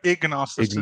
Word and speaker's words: ignosticism: I'm going to have to get you to Ig, pronounce it. Please go for it. ig. Yeah, ignosticism Agnosticism.